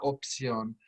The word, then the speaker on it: opción: O-P and then C-I-O-N. It's an S sound.